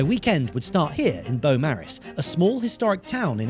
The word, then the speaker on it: Beaumaris: Welcome to Beaumaris Castle, often pronounced as Beaumaris Castle, and it's famous for being a castle that was never quite finished.